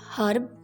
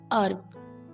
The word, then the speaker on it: herb: Next word, the British speakers say herb, H is pronounced, but in American English they say like herb, H is silent, herb.